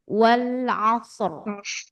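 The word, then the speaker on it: وَالْعَصْرِ: Itu pun baca tebal. Bacanya menjadi wal asr. Wal asr. Oh, kerasa ya, tebal.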